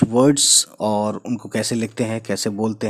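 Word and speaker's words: حق: इसकी आवाज़ हलक से होती है जैसे हक है ना, राइट्स का मतलब होता है हक, अधिकार। तो हक हक जो है इसी बड़ी हे से जो है बोला जाता है।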